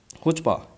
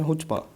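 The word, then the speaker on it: chutzpah: Extreme self confidence होना और Audacity होना मतलब साहस होना, तो ये वर्ड होता है हुचपा, इसको कहते हैं हुचपा, ठीक है। इसमें सी ये साइलेंट रहता है, तो हुचपा होता है मतलब कि दुस्साहस।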